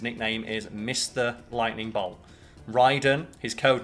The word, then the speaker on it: Raiden: called raiden and ryden it's spelt the same but the mortal kombat pronunciation is different and we have had